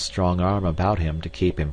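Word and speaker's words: arbre: a piece of bark he learned from darno that it was pronounced um and in the same way he was taught to pronounce ape San and tree AR he was a most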